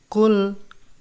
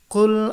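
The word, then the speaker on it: قل: নাস কুল এটা হলো কুল এটা আউজু এটা বি রব্বিন নাস বানান করলে কফ লাম পেশ কুল আউজু হামজা জবর আইন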